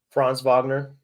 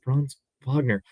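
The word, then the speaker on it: Franz Wagner: how to pronounce it fron Vagner yes fron Vagner oh my God I know I know how to say his name it's just the German it just messes me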